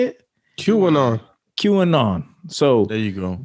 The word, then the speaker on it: QAnon: QAnon.